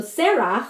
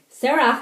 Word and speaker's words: Serach: So Serach, I think that's how you pronounce her name, S-E-R-A-C-H, Asher's daughter, sang to Yaakov and